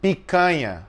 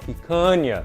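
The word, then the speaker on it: Picanha: Pica. Pana. Okay. Now to be I've had picna in my youth, but I didn't know it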